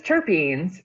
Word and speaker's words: terpene: And I mean, the stuff about terpenes. So it's pronounced terpene? Terpene, yeah.